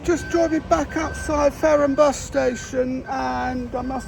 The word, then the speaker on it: Fareham: announcements, I feel that it sounds like she's pronouncing this place as Faro, and we're in Fareham.